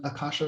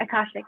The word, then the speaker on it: Akashic: Okay, and so could you explain what hypnotherapy and Akasha records? Did I say it right? Akashic, yeah.